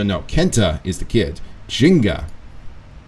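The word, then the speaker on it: Gingka: Kenta is the kid Jinga whose name by the way is spelled uh g-i-n-g-k-a that's his name and for some other reason that's how you pronounce it doesn't sound Japanese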